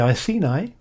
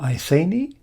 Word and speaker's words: Iceni: Boudica, queen of the Iceni, or Iceni, how you decide to pronounce the tribe is your concern, but she rebelled against Roman rule, and she lived up here.